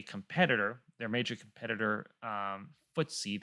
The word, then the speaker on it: FTSE: their major competitor um footsie that's spelled ftse considers south korea to be